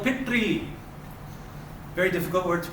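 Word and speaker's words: पितृ: You just got to make sure your tongue curls up for the ri. Pitri.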